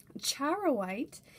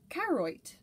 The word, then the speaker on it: charoite: stone on this mineral i actually uh called it keroit i totally thought the age was silent and right just sounded